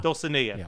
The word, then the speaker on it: Dulcinea: Dulcinea, yes.